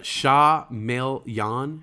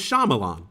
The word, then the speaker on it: Shyamalan: lebron james here never it's pronounced uh sha mel yan shamelyan really i always thought it was shyamalan shah maelyan uh hey